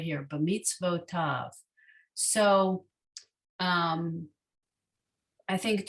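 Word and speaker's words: בְּמִצְוֺתָיו: So why don't we pronounce this b'mitzotav? Well, because this sadi has its own vowel. It can't have two vowels. So this is an unusual application of the vav acting as a consonant and a vowel.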